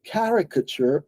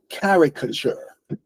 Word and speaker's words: caricature: There it is, caricature. Are you familiar with the word caricature? Not by the way it's spelled, but by the way it sounds. It certainly sounds like character, doesn't it?